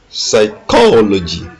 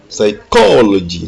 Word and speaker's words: psychology: Number 17, psychology, psychology. L'accent est mis sur la deuxième syllabe co, psychology.